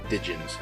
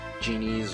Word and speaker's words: djinn: They're just genies, or I guess like before when I was seeing it, it was just djinns.